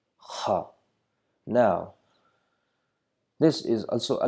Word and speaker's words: Kha: Okay, let us move on to the third letter, which is Khaa, Khaa.